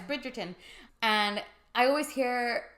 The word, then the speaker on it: Bridgerton: one it's not it's Netflix Bridgerton oh Bridgton brid Bridgerton bridg no you got itd yeah it's Bridgerton and I always hear